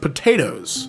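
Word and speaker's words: Potoooooooo: He is now best known for the unusual spelling of his name pronounced potatoes.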